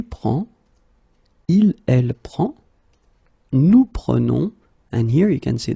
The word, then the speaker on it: prenons: Okay, keep in mind that you should pronounce it prenons, vous prenez, and then the last one, the tricky one, ils prennent.